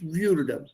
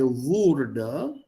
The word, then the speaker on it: würde: Ich würde, as long as you pronounce this correctly. If you say wurde, it becomes passive preteritum.